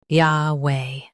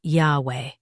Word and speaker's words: Yahweh: Yahweh. Say it as Yahweh with a soft H at the end. Yah Way. Yahweh. Say it as Yahweh with a soft H at the end. Yah Way. Yahweh.